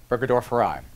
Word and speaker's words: burgdorferi: with causing Lyme disease some people may pronounce a bitter rugged or for I orbiter burgdorferi but we're gonna go by the Mayo Clinic pronunciation for now burger Dorf arrived this in comparison to